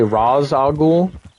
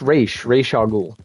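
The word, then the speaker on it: Ra's al Ghul: or Batman fans say Raz Ahul um it's pronounced re rahul in any animated show medium or movie it's re or race re race a ghoul it's not Ross but you probably knew that re you probably knew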